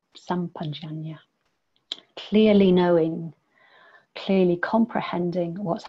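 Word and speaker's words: sampajañña: This is pronounced in all sorts of different ways. Sampajana. So I think this is a Pali way. It's sampajana.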